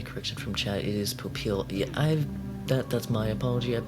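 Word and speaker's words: Popeil: And I'm getting a correction from chat, it is Popil. Yeah, that's my apology, I've been messing up that pronunciation for a while.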